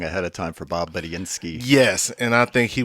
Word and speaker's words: Budiansky: Bob Budiansky.